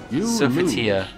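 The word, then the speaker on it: Sophitia: The victory of Sofitia. Sofitia, okay, that's how you pronounce it.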